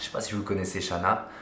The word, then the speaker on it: Chanaz: si vous connaissez shana je pensais ça se prononcer chanaz et j'ai appris que en fait aucun village haute savoie en savoie et dans tous les entoure tous ceux qui finissent par x y ou z ça ne se prononcent pas y a que la montagne du semnoz pour ce câble dans le coin qui on prononce le z mais normalement devrait pas